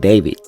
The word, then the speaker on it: D4VD: David Burke was born in Queens, New York, but grew up in Houston, Texas, and went by the stage name D4VD, pronounced David.